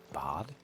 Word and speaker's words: bade: Perhaps I'd live longer if I bade this town farewell. But I've grown rather fond of the old place. Is that how you're supposed to pronounce that? Bod? I always thought it was Bade.